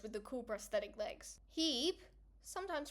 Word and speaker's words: Hebe: of the forge with the cool prosthetic legs, Hebe, sometimes pronounced Hebe, I like Hebe better though, the goddess of eternal youth, Aletheia, goddess of childbirth.